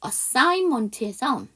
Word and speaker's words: assignment: assign먼트에서 g가 묵음이에요. 그니까 I gn으로 끝나도 되지만 가운데 우리 assignment에서 앞에 AS를 떼버리고 먼트를 떼버리면 사인이죠.